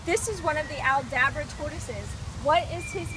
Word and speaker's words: Aldabra: I said it right, the Aldabra tortoises.